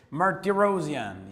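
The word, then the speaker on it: Martirosyan: meantime yes everything yeah even martirosian ah did I pronounce his name correctly yes Marty rosian yeah so let's go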